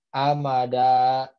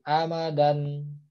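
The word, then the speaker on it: أَمَدًا: Wah ini wasyuhuba. Jadi bacanya bukan wasyuhuban. Ya, atau ini amada, ya bukan amadan, seperti itu.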